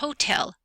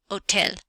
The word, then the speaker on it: hotel: June July and Thursday the letter H is silent you don't hear it so we have Ola and hotel hotel not hotel hotel so high and hotel